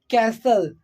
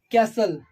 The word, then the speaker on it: castle: as you can see castle castle castle bristle so what is happening here T is becoming silent but a star as